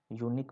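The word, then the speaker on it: Syunik: Armenia के बीच में से अर्मेनिया की एक शजुक शूनिक प्रोविंस है। यूनिक बोलते हैं प्रोनाउंसिएशन।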